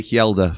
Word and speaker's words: Helder: I know you've sort of switched the things around, but Sony Glasby likes to call him Hela because he can't say his name properly.